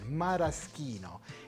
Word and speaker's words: Maraschino: Maraschino, I should say, the pronunciation. Maraschino. C-H in Italian is K.